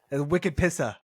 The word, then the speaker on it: Wicked Pissa: And it's spelled like a Boston accent. Yes. So you got to, Wicked Pissa. Gotta hit it with the Boston accent.